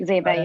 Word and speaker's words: Zayba: I apologize if I mispronounced you. Zyba, you got it right.